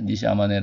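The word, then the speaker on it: 西周: 양 쯤에 한자 말은 소주 좋겟습니다 같은 일본식 발음이 이제 2시 아마 내라고 하는데 니시 아마네 라는 그 사람이 바로 이유가 철학의 저도 했던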